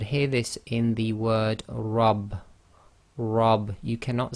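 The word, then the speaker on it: رب: this in the word rub. Rub. You cannot say my rab, you say my rub. So that's why it's rub instead of rab, is because the letter ra with fatha must be pronounced heavy, so it's ra, ra.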